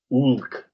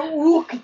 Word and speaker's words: Hulk: Is what it would be, because the J is an H. Can I ask you a question? And then the H is silent, so the Incredible Hulk is just Ulk.